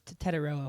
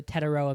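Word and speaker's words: Tetairoa: He doesn't like being called Tet. Okay. So we had to memorize the Tetaroa McMillan pronunciation.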